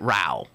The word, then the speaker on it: Rauch: How dare he say you pronounce it Rau when he spells it Rauch?